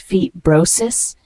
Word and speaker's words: fibrosis: heart rate the word fibrosis spelled FIB b r r o s i s fibrosis is a noun pronounced Fe brosis it refers to a